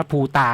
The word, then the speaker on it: ภูตา: เนี่ย นะ แล้ว ก็ P u t a อ่าน ว่า ภูตา นะ อัน นี้ เป็น